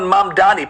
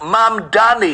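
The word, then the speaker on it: Mamdani: This is New York City Mayor Zoran Mamani, pronounced Mam Dani.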